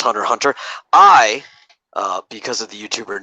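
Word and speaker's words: Hunter × Hunter: of hunter x hunter you're not supposed to pronounce the X for some reason apparently it's just hunter hunter I because of the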